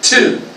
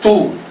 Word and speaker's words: to: Pronúnciala, to. No es tú, sino es to.